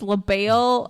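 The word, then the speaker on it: Le Bail: It's Leel. So, okay. So, I just want to say it's Leel. I'm not not that you said it wrong, but B A I L, but like I if I didn't have subtitles, I would have thought it was Leel.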